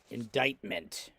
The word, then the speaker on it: indictment: nice tasty word indictment it's actually spelled with a c let's see if i can get this word here indictment it's got a c in it indictment just means the